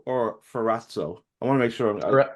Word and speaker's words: Ferrazzo: is your last name fzo or fatzo I want to make sure well if you want the proper Italian pronunciation it's fzo but okay I mean